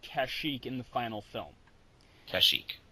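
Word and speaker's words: Kashyyyk: in the final film kashik yes that that's okay that's the that's right that's the uh uh wook home world yes that's the that's the official pronunciation kazuk in the uh holiday special is wrong yes the reason why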